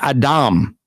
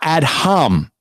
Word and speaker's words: Adam: that's because this is the actual word Adam which is how you would pronounce it not add hum you see what he